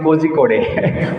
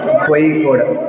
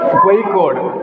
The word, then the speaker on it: Kozhikode: I was pronouncing Kozhikode, but I came to know that it's not Kozhikode, it's pronounced as Kozhikode. Kozhikode.